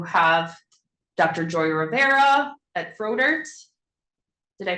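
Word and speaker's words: Froedtert: Joy Rivera at Frodert. Did I pronounce it? Frodert.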